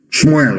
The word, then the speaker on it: Shmuel: Let me tell you what Samuel said. Shmuel, of course, correct pronunciation.